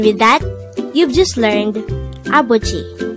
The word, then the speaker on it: 아버지: korean noun for father the word abuji could be divided into three syllables a is just the sound of a itself with a placeholder eon at the first position of the syllable bo is the combination of the sounds of b of and o while g is the combination of the sounds of chiyot and e apochi and with